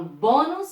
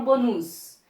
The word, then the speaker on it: bônus: Bônus, eu falo bônus ou eu falo bonus? Eu falo bônus. Essa é a sílaba mais forte.